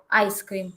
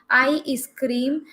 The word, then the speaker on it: ice cream: um pay attention here i'm not getting any kind of e sound before s yes before the s sound so if you are pronouncing it as i is cream please stop there and please just concentrate on this cream part only keep on practicing the